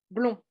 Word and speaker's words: blond: la fin tous les tous les adjectifs qui ok au masculin finissent par un S un D ou un T vous ne les prononcez pas d'accord alors allez-y Isabella